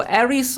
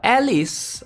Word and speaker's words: Aris: which is aries so aries or alice all right depending on how you want to pronounce it um let's see